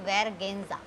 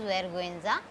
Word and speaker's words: vergüenza: If we see anything like this dot, diaresis it is called, on GUE, if it is there, then we will call it, we will pronounce this U. Vergüenza, vergüenza, it is not vergüenza, this is vergüenza, shame.